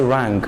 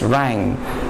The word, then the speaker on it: rang: now rhyme don't say rank the g is suppressed meaning that we are not supposed to pronounce the g it's rang and then the bass